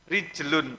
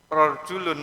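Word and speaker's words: رجل: itu rnya di kasrah jimnya di Fathah lamnya di domah Tain rijlun artinya kaki tapi kalau rnya dibaca fathah jimnya dibaca domah itu artinya rajul rjulun artinya orang laki-laki jadi hurufnya tiga sama tapi cara baca jadi berubah makna Nah makanya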